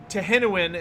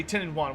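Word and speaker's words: Tehenhauin: He says Tehenuin, and some people say 10 and 1. Which one's correct? So, technically, Friedrich, they're both correct.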